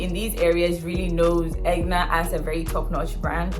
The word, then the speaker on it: Aigner: been french i mean we could stick with egna or something close to a hungarian accent form of pronouncing egna but not angrier it's never been french